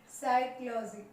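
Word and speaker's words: psychology: साइक्लोजी, इसी तरह से वर्ड आप देखिए कि ठीक एस से पहले पी साइलेंट हुआ, लिखेंगे जरूर इसे।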